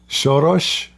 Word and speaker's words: Soros: Lord have mercy uh shos Soros shos okay shos he's in Hungarian he's an [ __